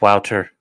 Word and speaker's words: Wouter: It's Wouter. Thank you, Wouter. That's exactly. You're all mispronouncing my name. Rakeda Loss is now from Cleveland. Oh, yes, it's Wouter.